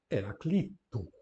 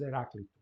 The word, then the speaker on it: Heraclito: E em português, seguindo as regras, ficará Heraclito. Ouvimos muitas vezes Heráclito, não é?